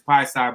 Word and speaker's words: Piesie: I called myself Kofi Piesie, but I didn't pronounce the Piesie right for years. I still say Piesie because everybody still pronounce it as Piesie, but I know it's Piesie.